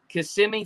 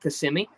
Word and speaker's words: Kissimmee: butcher the name, but I'm pretty sure it's Kissimmee, Florida. Pretty sure that's how you pronounce it. I believe so. Kissimmee, Florida. Yeah. Yep, Kissimmee.